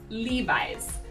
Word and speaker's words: Levi's: common brand here in the united states is levi's levi's they're famous for their denim when you